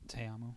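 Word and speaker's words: Ta'amu: Teamo.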